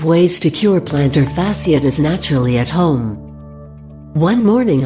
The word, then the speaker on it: plantar fasciitis: Plantar fasciitis, pronounced plantar fasciitis, is an inflammation of the flat muscle tissue that connects your heel to your toes.